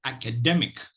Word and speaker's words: academic: at the uh at the transcription okay so academic academic so if you look at it act